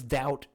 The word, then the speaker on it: doubt: you don't need it why is doubt have a silent b yeah really dabbit why